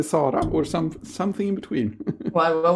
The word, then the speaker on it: Sara: Should I say Sara or should I say Sara or something in between? What was the second one you said? That's a Swedish pronunciation of Sara. Oh, maybe it's in Portuguese it's Sara.